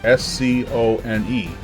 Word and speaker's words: Scone: Our next stop for day one here in Scotland would be Scone Palace, spelled S-C-O-N-E, but pronounced Scone here locally.